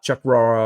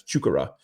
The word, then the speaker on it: Chukwurah: best to to double check on on the pronunciation. It's not Chuck Rora or anything like that. It's Chukura.